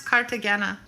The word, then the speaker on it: Cartagena: part cartagena cartagena hey google how do you pronounce cartagena that's pronounced cartagena cartagena cartagena colombia oh it's